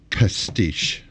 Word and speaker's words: pastiche: Pastiche is how that's pronounced, and yeah, just go look it up on YouTube.